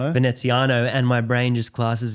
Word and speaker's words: Veneziano: Okay, eighth is the one that I can't pronounce, Ven Veneziano. Veneziano. Veneziano.